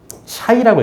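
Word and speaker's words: شيء: 그래서 알리즘께서는 전 저서에서 어떤 것을 의미하는 아랍버 샤이라고 읽습니다. 샤이. 샤이로 이제 미지수를 표현을 했고이 앞글자인 요건 신이라고 읽어요.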